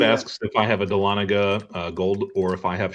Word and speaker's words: Dahlonega: To me, it sounds like Talladega. It looks like Talladega. So it looks like Dahlonega should be pronounced Dahlonega, kind of the same way. Right. But it's not. It's Dahlonega.